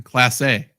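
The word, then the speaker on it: Clase: Wild Thing I just found out how you pronounce his name that's awesome yeah he's been on multiple fantasy teams of mine Class A that's right or Zach calls him Manny CL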